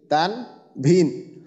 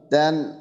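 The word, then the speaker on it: تنوين: কিন্তু আমরা কি পড়তেছি বাংলায় কি পড়তেছি তানভিন অথচ এটা হলো তানুন তানুন তাই না তানুন কিন্তু আমি আমরা বাংলাতে কি বলতেছি তানভীন তান ভিন তো এই যে বিষয়টা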